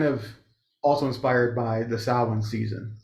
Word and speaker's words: Samhain: Samhain, and it's spelled Samhain, Samhain.